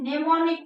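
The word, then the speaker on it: mnemonic: निमोनिक code am silent कहता है।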